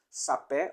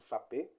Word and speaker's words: Sapé: S vai ser acentuado Sapé ou alguns pronunciam Sapê também h o acento e